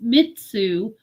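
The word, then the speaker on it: 三つ: Partly because it's considered lucky and can be pronounced mitsu, which is also the pronunciation of words with positive meanings like become full, to fulfill, and light.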